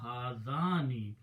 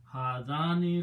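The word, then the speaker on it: هذان: When you put a noon in the beginning, in the end, and pronounce with a kasra, hadani, it becomes group of two.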